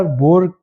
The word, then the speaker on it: Boer: दोनों के स्पेलिंग मुख्तलिफ है लेकिन सिर्फ बोले सेम जाती हैं, इसलिए उस तरफ शक जाता है।